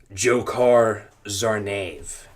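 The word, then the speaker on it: Dzhokhar Tsarnaev: his name for a correct pronunciation it is pronounced jokar Zar that's that's what the voice sounded like too jokar zv and the verdict read according to CNN on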